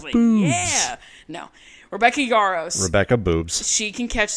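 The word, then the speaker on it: Yarros: as a side note her last name is spelled y a r r oos and every time I saw it I thought it was Yos y a b b o s like yeah no Rebecca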